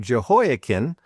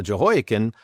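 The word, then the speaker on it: Jehoiachin: Boy, having trouble saying that one. And do you say it joken? Some may also pronounce it as Joh.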